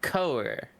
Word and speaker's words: cœur: It's pronounced coer.